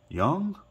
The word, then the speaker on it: Jung: now is pronounced John Young I say it like young like old and young um recently had thumb